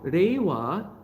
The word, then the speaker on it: Reiwa: dynasty of his term reiwa so in in if you pronounce reward in mandarin chinese is ling her uh so raiwa this is the third